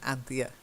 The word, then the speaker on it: Anthea: try it and Anthea Anthea yeah the stresses on Anthea yeah and then frowned